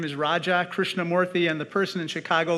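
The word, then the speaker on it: Krishnamoorthi: When I first ran for office, I said, my name is Raja Krishnamurthy, and the person in Chicago looked right back at me and said, Roger Christian Murphy.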